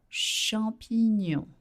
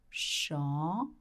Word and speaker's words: champignon: Le champignon. Le champignon. GN makes the sound ñ in French, like in canyon or onion.